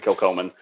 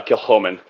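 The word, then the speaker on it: Kilchoman: Um, so I think your mind's about to be blown when you when you pick up the Kilkman. Uh, Kil Homman. Correction.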